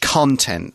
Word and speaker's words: content: Now, when you see this word, when it's a noun, we pronounce it content. The stress is on the first syllable. The adjective content is spelled the same way, but the stress is on the second syllable.